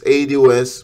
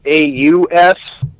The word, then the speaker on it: ADOS: Okay, so you say AU, is it pronounced AUS? Is that it? It's ADOS.